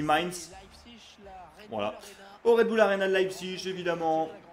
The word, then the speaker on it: Mainz: Allez, c'est parti pour ce match face à Mainz, c'est Mainz qu'on dit, je crois, hein. Je dis Mayence, mais je le prononce à la française, je crois que ça se dit Mainz, voilà, au Red Bull Arena de Leipzig, évidemment.